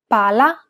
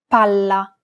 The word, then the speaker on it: palla: Unlike English, double consonants must be pronounced clearly and held for longer periods of time in Italian. Failure to do so could result in miscommunication. Pala, palla. Remember how Italian is a syllable-timed language? Imagine that you're holding that consonant sound for one extra syllable. Palla, palla. Many learners do not hold the sound for long enough, so when in doubt, pronounce it a little longer than you would normally.